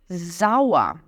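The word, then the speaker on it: sauer: o azedo né azedo eu vou dizer zaa zaa então s é tem som de z e o er no final tem som de um azinho zaa zaa zaa isso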